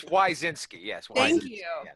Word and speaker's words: Wyszynski: Signorelli, Derek, and I'm going to butcher your last name, Wyszynski. Wyszynski. It's actually pronounced Smith. There we go. No, it's Wyszynski.